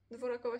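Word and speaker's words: Dvořáková: No tak, i one zawsze czytają Dworczakowa. Sprawdzamy to, kochani. One zawsze czytają Dworczakowa. A według mnie Petra Dworakowa. Jest, tak się pisze, ale czyta się Dworczakowa podobno. Dworakowa się pisze.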